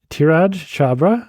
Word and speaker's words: Dhiraj Chhabra: We're back for another episode of the Bad Ideas podcast with Dhiraj Chhabra. Did I pronounce it correctly?